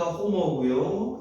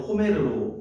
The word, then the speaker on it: 호머: 영어식 발음이니까 호머고요. 영어식이 아닐 때는 호메르로 읽습니다.